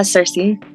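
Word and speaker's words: Circe: yes oh that's so oh I love that pronunciation never heard that before that's beautiful how' you say it uh Cersei Cersei okay yeah makes sense yeah I love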